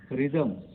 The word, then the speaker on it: rhythm: रिदम, रिदम में देखिए RYTHM हो सकता था, लेकिन H यहाँ पर है, RHYTHM, रिदम मीन्स लय।